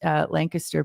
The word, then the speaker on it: Lancaster: And I know that is how it's pronounced, Lancaster, Pennsylvania, which has quite